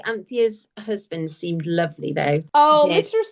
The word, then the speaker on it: Anthea: Yeah, I think I'd have it as like almost 2 syllables.